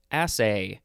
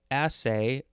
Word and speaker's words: assay: have a say a-s-s-a-y could also be assay i think hold on assay or assay yep both emphasises are correct this is the first